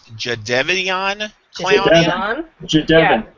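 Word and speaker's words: Jadeveon Clowney: I get the feeling it's going to be um now what's the pronunciation now? It's Jade Devian Clowny.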